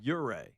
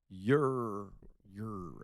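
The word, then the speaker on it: Ouray: So got two calls in the people say it's pronounced your way, Colorado. Ure. Yes. Ure.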